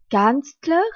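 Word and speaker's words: Kanzler: e r vide der Canler c'est le chancelier kanstler s'écrit K a n Z l e r dit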